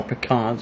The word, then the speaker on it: pecans: some pecans top responds Oh pecans are how you say it and then we're going